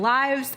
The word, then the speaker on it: lives: word Li ves then if it's a noun that's all the information I need to know to know how to pronounce it if I say a cat has nine lives I pronounce it like lives or as if instead that word is a verb then I'm gonna pronounce it like lips like she lives in New York City and so tigers getting